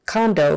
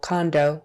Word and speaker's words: condo: vvth condominium condominium now when we say it condo for short we definitely make that a long o condo condo but when we say